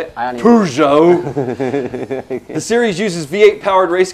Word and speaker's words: Peugeot: is currently backed by two manufacturers, Chevrolet and Peugeot. That wrong, I'm sure. How do you say it? Peugeot!